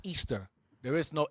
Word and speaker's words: Ishtar: Now the word Ishtar is not pronounced Ishtar, it's pronounced Easter.